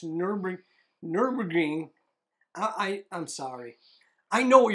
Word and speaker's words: Nürburgring: I plan to visit Nuremberg for a... it's not Nuremberg, it's Nürburgring.